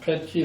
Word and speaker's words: Petry: It's pronounced Petry, like pet the dog and put the key in the door.